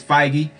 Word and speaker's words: Feige: don't know why i keep saying a man name wrong at the end kevin feige is fighty but kevin feige said that it's not going